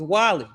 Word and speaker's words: Guale: Pronounce it correctly. It's Wally.